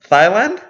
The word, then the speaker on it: Thailand: Thailand? yes. Thigh, like Thigh. Thigh. I mean, is that a different country? No, it's just not how you pronounce it. Oh, I said Thailand because it's a TH.